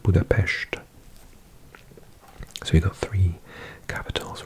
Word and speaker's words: Budapest: with its capital of budapes because s is are pronounced in Hungarian as a sh so it's not Budapest but Budapest so we got three